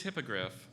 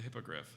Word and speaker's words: hippogriff: please use that in a sentence the egregious hippogriff only employed writers who could identify both names of the hippogriff from Harry Potter language of origin plays it's